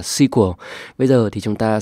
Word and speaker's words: SQL: ở ngay trong Excel Thực ra là đọc SQL là sai chúng ta phải đọc là sequel bây giờ thì chúng